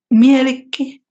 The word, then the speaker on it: Mielikki: Mielikki and Loviatar, the pronunciations.